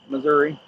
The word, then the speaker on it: Missouri: I didn't pronounce it misery, did I? Just Missouri.